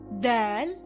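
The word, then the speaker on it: دال: The next letters of the alphabet are Dal and Dhal. Dal sounds like the letter D in English but softer.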